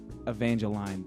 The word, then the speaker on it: Evangeline: i got the name so about the pronunciation randy newman's got a song about uh flood in louisiana and he says evangeline that way and i'm a huge randy newman fan and that's where i got that pronunciation okay because it's cause